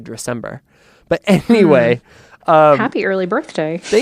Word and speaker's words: Dressember: I like to say Dressember, like December, or should I be putting a little bit more emphasis on the dress, like Dressember? I don't know. What do I do? I've never been asked that actually, but I don't hate the Dressember. But I just say it like December, but Dressember.